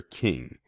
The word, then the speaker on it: Kueng: his last name Alexander King now his last name is spelled k u e ng but it is pronounced king I read through the